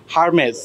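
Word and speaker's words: Hermès: আপনি একটু বলে দেন এই ব্র্যান্ডের নাম কি হারমেজ হারমেজ ভেরি নাইস এটা ইটালিয়ান ব্র্যান্ড তাই এই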